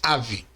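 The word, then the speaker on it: אב: Então lemos ave. Essa palavra pode ser tecnicamente transliterada como ABH. Simplificando, ela é lida como ave e significa pai, mestre, antepassado, ancião. O V no final ele é mudo.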